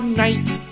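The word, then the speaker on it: knight: for juice JJ Juice K is for night with a silent k L is For Love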